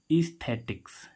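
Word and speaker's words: aesthetics: ठीक है, ऐसे ही आगे स्पेलिंग एक और क्या है, ए ई एस टी एच ई टी आई सी एस, ईस्थेटिक्स। ईस्थेटिक्स, ए ई का उच्चारण क्या हो रहा है, बड़ी।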